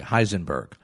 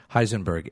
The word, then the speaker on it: Heisenberg: And let me spell it for you. Heisenberg. That's the name of the physicist who's responsible for its creation. Heisenberg, Heisenberg.